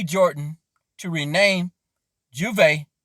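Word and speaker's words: J'ouvert: b jordan to rename juve that's how you pronounce it in french rum after nicki minaj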